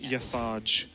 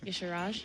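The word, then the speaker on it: Y'Shaarj: Not Yasaj, as a lot of people. I usually say Yasharj. I do too. It's incorrect. Yasharaj.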